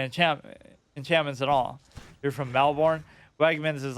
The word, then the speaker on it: Melbourne: Or like Melbourne, right? I'm saying it how it's spelled, though. Like Jason Bourne, Melbourne.